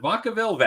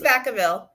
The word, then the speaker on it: Vacaville: In Vacaville, California. Am I pronouncing that? Is it Vacaville? It's Vacaville.